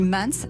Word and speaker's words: MAANS: Alors on dit Mans, ça s'écrit M-A-A-N-S.